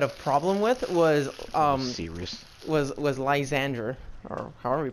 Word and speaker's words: Lysandre: a little bit of problem with was was Lysandre, or however you pronounce his fucking name. I Lysandre, you said it right. Lysandre, because the freaking Geomancy, bro.